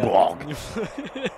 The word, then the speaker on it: Wolfsburg: Wolfsburg. Merci, tu as raison de le prononcer avec l'accent, c'est quand même plus impressionnant.